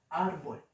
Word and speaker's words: árbol: Ejemplo, árbol. La palabra árbol, niños, se divide en dos sílabas. Árbol. Ar es, es la sílaba donde recae la fuerza, donde recae la intensidad. Y bol es donde no recae.